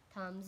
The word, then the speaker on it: thumbs: B is highlighted, means B is silent in this sentence. B is silent. K is highlighted here, and as I have told you that whenever the K is before and K is always silent, so this K is silent, like B is silent here.